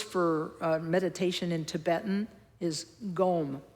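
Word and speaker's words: སྒོམ: meditation in Tibetan is gom. It's spelled, in English alphabet, it's spelled like G-O-M, gom.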